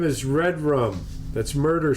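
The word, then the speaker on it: Redrum: Oh, the name is Red Rum. That's murder spelled backwards. That was written on the mirror. Red Room, in pronounced lipstick.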